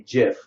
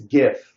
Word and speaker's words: GIF: I pronounce GIF like GIF because it's a G, not a J. If it was a J, it'd be GIF. But it's GIF because it's got a G.